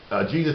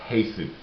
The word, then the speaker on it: Jesus: And so the reason now Jesus' name is not pronounced Jesus; it's pronounced Jesus, as in the Hispanic type or Mexican type of wording to it.